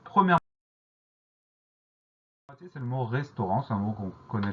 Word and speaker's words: restaurant: Donc le son en s'écrit à N et on a une lettre muette à la fin du mot restaurant, c'est le T auquel il faut penser.